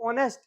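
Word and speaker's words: honest: ऑनेस्ट है ईमानदार है इसको ऑनेस्ट मत पढ़ना ओ के पहले एच हमेशा साइलेंट रहता है तो यहां पढ़ेंगे राम इज टू ऑनेस्ट राम इतना ज्यादा ऑनेस्ट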